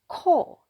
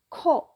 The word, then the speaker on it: 코: 코, air gets out from your mouth, 코, and coffee.